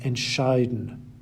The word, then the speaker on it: entscheiden: You may have noticed that all the words on the left-hand side have their stress on the second half of the word, bekommen, vergessen, besuchen, versuchen, verstehen, gewinnen, and entscheiden. Separable verbs, on the other